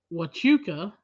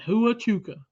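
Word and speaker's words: Huachuca: in Arizona at Fort wuka and guys I had to look that up because I would have butchered that because it's spelled Hua C hu CA I would have so said hu auka oh yeah C anyway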